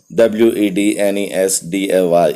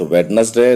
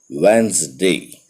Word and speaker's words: Wednesday: बट ऑन वेंसडे the pronunciation of WEDNESDAY is not Wednesday. The pronunciation is Wednesday. Wednesday.